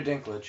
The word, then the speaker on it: Dinklage: Peter Dinklage. Peter Dickle.